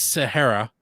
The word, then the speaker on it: Sahayra: of time but um i checked on the pronunciation um so it is sahara um you want to